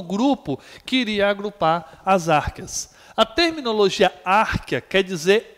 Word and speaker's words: árqueas: escrevendo aqui no nosso contexto do português mesmo, árqueas, porque você pode achar também escrita, né? Lá, em alguns livros vão aparecer com CH, árcheas, mas a pronúncia correta que nós utilizamos é essa, das árqueas, tá bom?